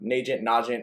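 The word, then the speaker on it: Nagant: Like, Najent, whatever it's pronounced, but I think it's N in front of agent.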